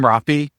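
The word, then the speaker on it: Raphi: We still actually argue because we met on the internet, and in his profile, he said Rafi, R-A-P-H-I, and then in parentheses, rhymes with coffee. Rafi and coffee do not rhyme.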